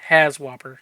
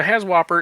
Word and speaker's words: HAZWOPER: it work if you find it this is pronounced has whopper so h-a-z-w-o-p-e-r there's no P but as War doesn't work so has whopper is hazardous waste operations emergency response they do